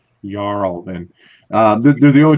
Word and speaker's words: jarl: standing below the battlefield jarl okay don't pronounce the j on that sorry don't put it no yarl then uh they're the